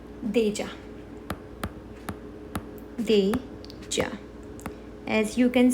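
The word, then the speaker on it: déjà: we're going to do that as well so Deja Deja means already already as we say deja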